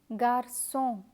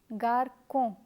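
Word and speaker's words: garçon: the word is from just as Garcon if you forget to add the settler Garcon would be pronounced as Garko let me give you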